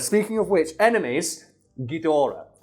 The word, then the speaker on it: Ghidorah: Speaking of which, enemies, Ghidorah, which I got checked by a friend of mine who speaks fucking Japanese and I'm pronouncing that correctly.